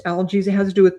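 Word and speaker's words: Algiz: This is called algies in Nordic, pronounced algies.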